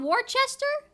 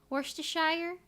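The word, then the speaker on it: Worcestershire: mustard yes Worchester sauce is it called Worchester nothing to sound right there's no h worshire worst worst strange strange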